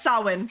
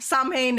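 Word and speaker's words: Samhain: s ha sawin yes I've heard Sam ha I've heard sawin but Google says sawin so yeah it's sawin Sam Hae is what it reads but it's it's I phonetically reads that way but that's not how you say it yeah exact oh man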